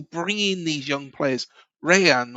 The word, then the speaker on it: Rayan: Rayan or Hian, I still can't say it properly. The R's are pronounced as H's, aren't they, in Brazil?